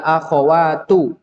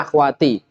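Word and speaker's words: أخواتُ: Ya akhawatu. Ini sering antum keliru-liru di sini. Semua yang tulisannya seperti ini seringnya dibacanya akhwati atau ukhti. Enggak. Lihat dulu ada ya-nya atau tidak.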